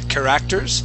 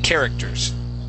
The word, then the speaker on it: characters: Okay, so the accent goes at the very beginning. So instead of saying characters, it's characters.